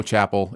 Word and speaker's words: Chappell: probably you pronounced that it's supposed to be pronounced Chapelle no Chapel it's Chapel I just get it wrong I think well no